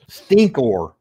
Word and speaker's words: Stinkor: I had his name wrong. Stinko. That's what I called him. Stinko. That's what I thought his name was.